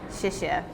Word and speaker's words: 谢谢: You have to say 谢谢 is how you say thank you.